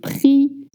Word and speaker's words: prix: The PR sound is a little hard, but please do not voice the X at the end of prix. Le prix, un prix.